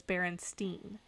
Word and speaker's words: Berenstain: And I will go to my grave thinking that it was the Berenstain Bears, because that's even how they pronounce it, was Berenstain.